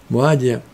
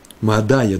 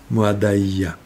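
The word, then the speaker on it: מועדיה: Моадия, Моадая даже, с таким ударением нужно сказать. У нас вот другие ударения, но по правилам, как мы с вами, как с Фарадим читаем, это должно быть Моадая, за то, что они пропустили праздники в Иерусалиме.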